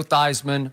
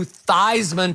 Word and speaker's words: Theismann: for a Heisman campaign he actually changed the pronunciation of his last name from Theismann to Theismann to rhyme with Heisman beer so Joe did